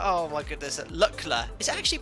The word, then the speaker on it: Lukla: Lukla, not Lukla. Oh my goodness, Lukla. Is it actually pronounced Lukla?